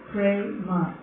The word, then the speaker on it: prema: In Sanskrit, it's two syllables, two letters, prema. Pre is like one letter and ma is another one.